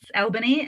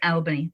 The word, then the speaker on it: Albany: that's how I knew yeah no no it's Albany and even more confusingly I went to high school in a place called Aubry which the spelling is very similar but um it is Albany is how we say it sorry I'm always